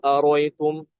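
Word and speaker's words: أرأيتم: Aroitum itu ada di 14 tempat ya. Ada di 14 tempat dalam Al-Qur'an itu juga sama Hamzah yang keduanya dibuang. Qul aritum ya seperti itu.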